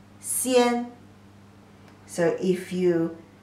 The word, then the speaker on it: 仙: And pronunciation as xi, yi, an, xian.